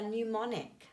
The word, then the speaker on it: mnemonic: too chilly writer for mnemonic okay well i'm just going to highlight there that we don't pronounce that m so that's the silent letter writer for mnemonic to